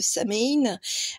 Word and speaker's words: Samhain: Eh bien, donc bon, c'est le tirage, on va dire, d'Halloween du sabbat de Samhain. Moi, je le prononce comme ça.